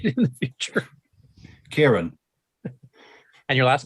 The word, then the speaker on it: Ciaran: real and just for our viewers can you pronounce your name so that Mark knows how to say it in the future Kieran and your last name there there you